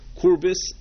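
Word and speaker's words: Kürbis: The Maril and the Bach say that it means kurbil, which in the way we would pronounce it would be kurbis, well, not with an L, but with an S at the end, kurbis, which is the German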